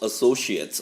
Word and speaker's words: associates: Through a complex web of holding companies in which his children and close associates are large shareholders, right? 그의 자녀들과 가까운 associates가 되었죠. eight라고 발음하지 않고 제가 it이라고 발음했습니다.